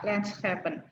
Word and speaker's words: Landschappen: Oh iya ya, SCH-nya dibaca seperti huruf H ya, H atau H, Landschappen.